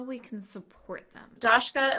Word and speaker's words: Dashka: we can support them dashka am I pronouncing your first name correctly you absolutely are okay okay good um